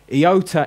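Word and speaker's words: ἰῶτα: a th in there then we got yota eyota is an AI as in hit or as in iota that I sound then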